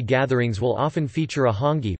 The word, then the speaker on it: hangi: will often feature a hangi pronounced hung e a pid in which